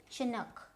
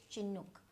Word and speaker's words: Chinook: Right, so the American pronunciation, they'll have this short O, Chinook, and the British English is Chinook. I mean, a little difference between the O, so Chinook and Chinook, right?